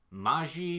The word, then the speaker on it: Mage: characters best friend's name is ma ji but it's spelled like mage its mage yes we're